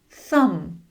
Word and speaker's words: thumb: Thumb. Thumb. Climb. Climb. Comb. Comb. Dumb. Dumb. Numb. Numb." You can see the "B" is usually silent when it comes after "M" at the end of a word.